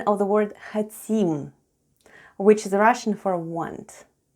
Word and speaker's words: хотим: And all together we have "хотим," with the stress on the last syllable.